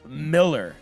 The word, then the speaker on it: Mueller: 300 batting average for the USA, Bill Miller, and that's spelled like Mueller, MU E, former Boston Red Sox.